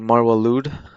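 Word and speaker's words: Marwa Loud: And I love this French artist called Marwa Lude. Well, it's loud, but some French guy told me that's how you pronounce it, so okay.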